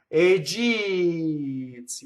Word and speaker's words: egizie: So thus, egizie, you elongate the E and you don't stop as you do in speech.